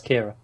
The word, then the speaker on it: Ciara: Sierra, probably. No, CIA. That's Kira. Is it Kira? Yeah, it's an Irish way of spelling Kira.